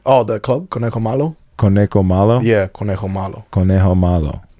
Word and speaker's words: Conejo Malo: Conejo Malo.